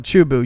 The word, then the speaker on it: Chubu: space parts um it was it checked into chubu am I saying that right chubu International Airport okay near a place called tokoname Japan yes I know it well chubu you pronounced it correct okay yeah thank you thank